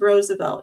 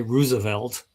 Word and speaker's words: Roosevelt: So, what's the most egregious mispronunciation of Roosevelt you've ever encountered? Uh there are people that say Roosevelt, which is not even close. Uh most people say Roosevelt is two syllables, uh which I did